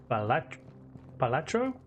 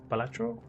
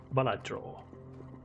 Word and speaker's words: Balatro: Palacro. Is that how you say it? Balatro. Balatro.